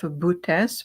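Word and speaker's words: Boötes: It is within the constellation of Bootes, which is spelled B as in boy, O T as in Tom, E S, Bootes constellation.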